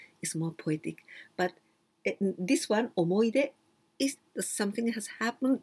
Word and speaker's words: 思い出: omo, but here, hi, but we don't pronounce omohide. This one was the very old style before the Second World War. And in those days, we used to use he and we pronounced I, omoide.